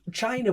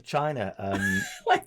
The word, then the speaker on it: Chyna: And So China, like notes, and he's like, great. Is that a name, China? China's quite China, China, but it's spelled CHY. CHYNA.